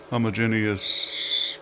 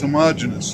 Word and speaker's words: homogeneous: it has become one homogeneous piece of Steel I know I probably pronounced that wrong I don't care it's homogenous homogenous so maybe I do care here you go